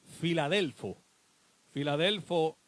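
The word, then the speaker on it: φιλάδελφος: filadelfia viene del griego la palabra original se pronuncia filadelfo filadelfo en su traducción al español de nosotros lo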